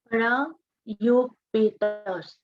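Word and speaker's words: parayopetāḥ: It's a soft T. Sadhana, this is a soft T, not a hard T.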